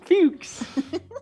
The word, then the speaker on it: Fuchs: Fuchs. Rhymes with books.